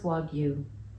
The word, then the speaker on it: wagyu: Brad wagu is pronounced wagu first syllable like wag and second like you wagu wagu is pronounced